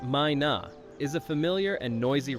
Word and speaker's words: Myna: The Mina bird, pronounced Mina, is a familiar and noisy resident across Hawaii, especially on the Big Island.